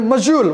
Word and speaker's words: module: Then module. What is module? M-O-D-U-L-E. Pronounce as module. How to pronounce it? M-O-D-U-L-E. How to pronounce it? Module, not dual. Don't say do, say jaw.